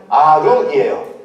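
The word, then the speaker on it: עָרוּם: 저 간교하더라 라는 단어는 히브리어 음이 뭐예요? 아룸이에요.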